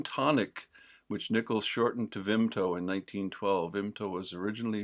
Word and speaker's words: Vimto: Correct pronunciation, Vimto.